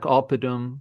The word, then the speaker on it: oppidum: syllable before the second. Yeah, Yeah. Yeah. like oppidum Oppidum.